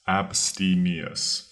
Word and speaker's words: abstemious: second word is Abus Abus that's spelled AB s t e m i o u s Abus it sounds complicated but